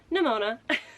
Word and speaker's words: Nimona: Nimona. I can never say the name right. I always want to say it like it's fucking ammonia. It's not. Nimona.